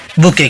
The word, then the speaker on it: bouquet: आता है, फूलों का गुलदस्ता, जिसे इंग्लिश में बुके कहते हैं। तो बताओ बुके का स्पेलिंग क्या है?